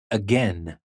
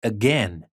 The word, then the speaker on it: again: have it as well spelled as a i as in again again it's not again it's not long it's again we can have it